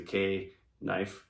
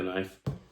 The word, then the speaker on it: knife: It's just a joke because it's spelled fucking stupid, so it's a K knife, so it's a knife.